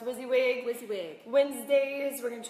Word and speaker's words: WYSIWYG: this is what you see what you get pronounced WYSIWYG WYSIWYG Wednesday's we're going to try to bring